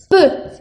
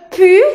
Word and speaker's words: peux: se dice je peux y se pronuncia peu. Te lo pongo aquí, ya sabes cómo pronunciarlo, pero es muy importante que no te equivoques porque aquí es e, el sonido e del abecedario, a, b, c, d, e, y no lo debes de confundir con el sonido u, que sería je pu.